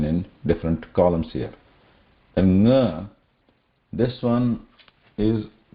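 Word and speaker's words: ङ: But in nga, the air will come out from both the sides. Okay. Both air and mouth and nose. Nga. So it is like pronouncing ga, but the air also passes out of nose.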